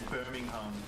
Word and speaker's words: Birmingham: I'm from Birmingham, Alabama, and he's like, you're saying it wrong, it's Birmingham.